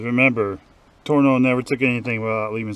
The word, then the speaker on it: Tornow: would be for John Turner I keep mispronouncing his name against John torno it's hard to say